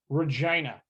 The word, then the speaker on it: Regina: But it is pronounced Regina.